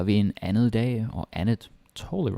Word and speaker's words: andet: about the pronunciation, because it is spelled andet, but most of the time in real life we say it like andet. Et andet bord. Yeah, like a softie basically.